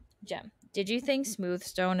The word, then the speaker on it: Jem: He could not say Jen. Instead, he said gin. Like the alcohol. Oh. And I'm like, my guy. That's not how you say my name. Jem, did you think smooth stone is iron?